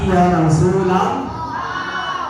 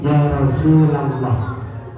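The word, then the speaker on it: يا رسول الله: ya Rasulullah ya tetapi Ya Rasulullah Ya Rasulullah ingat-ingat kalau nyerang serakah jangan membaca Ya Rasulullah tetapi Ya Rasulallah ya Terus lagi adik-adik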